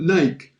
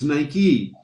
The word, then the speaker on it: Nike: us in north america we would have called it nike because because it looks like like right or mike but it's nike after a while they